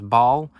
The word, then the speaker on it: Basel: I head down to Basel, which apparently you pronounce Basel, on Wednesday, ready to go into Switzerland.